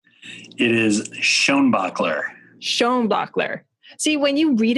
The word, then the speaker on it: Schoenbaechler: It is Schoenbaechler.